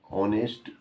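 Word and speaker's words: honest: एच लिखा हुआ एच है मगर उच्चारण में क्या आता है? ओ ऑनेस्ट मैन। तो जो साउंड निकलता है वो ए ई आई ओ यू ओ वाला निकल गया है।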